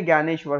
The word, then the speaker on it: ज्ञानेश्वर: फिर आज संत ज्ञानेश्वर इसे हम क्या पढ़ेंगे ज्ञानेश्वर स्पेलिंग शुरू हो रही है दी से पर इसे हम पढ़ेंगे ज्ञानेश्वर संत ज्ञानेश्वर संत chokhameda